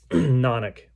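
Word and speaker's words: Knaanic: Nonic is how they pronounce that.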